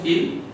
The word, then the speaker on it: il: Sir, IL, it is pronounced ill, and ILS, it is also pronounced ill, and ELLE, it is pronounced L, ELLES, it is pronounced L.